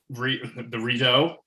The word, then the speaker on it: Rideau: I was like floating around in the Rideau. How do you pronounce it? Rideau? Is that right? Yeah, it was floating around